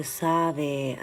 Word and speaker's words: Savi: Oh, Savi. Okay, sorry, Savi. Am I saying it right now, Savi? Thank you for correcting me, and you say it right.